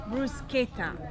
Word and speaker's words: bruschetta: Bruschetta. Don't say bruschetta. Don't be American. Be Italian. Bruschetta.